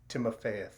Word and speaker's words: Timofeyev: Timofeyev.